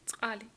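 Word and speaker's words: წყალი: Here we have the word root tsali. Tsali. It's a quite difficult word to pronounce because you have those tsa syllables, but just try and don't be shy.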